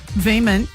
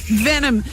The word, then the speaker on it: Venom: And I've gone, Veeman? Like, rhymes with, I'm trying to figure out what that rhymes with so I can remember to say it live on the radio. And she goes, yeah, Venom.